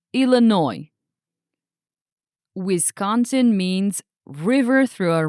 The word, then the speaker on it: Illinois: Also remember about the silent s. It's pronounced Illinois.